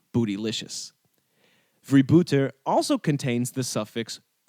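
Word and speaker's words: vrijbuiter: It comes from vibbute, a Dutch word meaning pirate or plunderer. My Dutch-speaking friend tells me I'm pronouncing this correctly.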